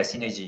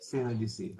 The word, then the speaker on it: Cenergi: So he's currently an asset manager at Cenergi Sdn. Uh, did I pronounce that correct? Cenergi, yeah? Okay, Yeah, Synergy, yes. Cenergi. Okay.